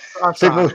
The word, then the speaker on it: Crosson: Is that the right pronunciation? Oh, pretty close, Crosson. But yeah, that's good. Crosson.